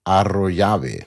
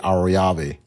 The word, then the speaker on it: Arroyave: And coming up on episode 5, a young lady, her name is Natalie Arroyave. That's how you say it. I know her friends say Arroyave.